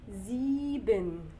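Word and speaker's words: sieben: بعده اللي انا اسمي زيبن زيبن زيبن زيبن زيبن زيبن زيبن زيبن زيبن زيبن شايفين الاس جي بعدها فوكال فبقت دي بتنطق دي بننطقها ايه بنزي بن طيب بعد الزيبن ايه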